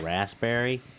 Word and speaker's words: raspberry: in the room hey do you guys pronounced the p and raspberry and my older brother looked at me and went the p as if there's no pee in raspberry and then he held